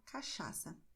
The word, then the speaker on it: cachaça: E você terá a combinação de CH com som de SH, que é o mesmo som que você tem em inglês quando você diz show. Portanto, você dirá cachaça, em português.